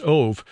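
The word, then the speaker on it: אוב: origin of the Hebrew word of OB but pronounced ove which is usually translated into English as Medium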